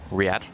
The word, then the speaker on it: Riyadh: Gamers 8 being a LAN in Saudi Arabia, say it properly, in Riyadh, which is going to be taking place in August, so a bit later in the year, and well, 3 months from now-ish.